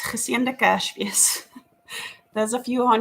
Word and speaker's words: geseënde Kersfees: We say geseënde Kersfees, geseënde Kersfees.